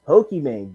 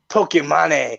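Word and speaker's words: Pokémon: And then don't even get me started on this Pokemon thing. Oh my God! Like, oh my! He can't even pronounce it. That's just tell you that this dude's dumb as fuck. He says Pokemon. It's Pokemon.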